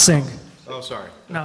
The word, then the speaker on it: Singh: bringing everybody in mr sein 102 oak park terrace which is pronounced um it's pronounced sing oh sorry no it's okay um my name is singh i live in wappingers